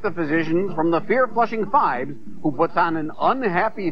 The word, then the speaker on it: Phibes: doctor and you know he changed the pronunciation of his last name five it was originally fibs but when he was known as Dr Phibbs his patients didn't believe him see hey you're good